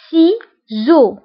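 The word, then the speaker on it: ciseaux: هنا قلنا سيزو فقريناها سي، لو سون س، سيزو.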